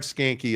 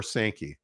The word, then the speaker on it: Sankey: this speaking of clickbait is SEC commissioner Greg skanky a villain or sanki sorry sometimes it just mispronounces me uh is Greg sanki a villain